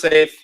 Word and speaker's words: Seif: leading up to is the safe project pronounce safe uh sponsored by Douglas